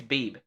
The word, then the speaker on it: Beebe: To any of you from Beebe, Arkansas, please don't be offended by my son's pronunciation of your town. It's Beebe. Okay, you say.